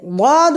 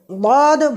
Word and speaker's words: ض: প্রিয় বন্ধুরা, এবারে যে বিষয়টি বলবো খুব গুরুত্ব সহকারে মনে রাখুন যে ওয়াদ বর্ণটি উচ্চারণের সময় এক পর্যায়ে তার আওয়াজটা জিহ্বা থেকে ডাইনে এবং বামে একটা পর্যায়ে ছড়িয়ে পড়বে।